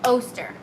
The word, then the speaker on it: Oster: So it rhymes with toaster, so Oster.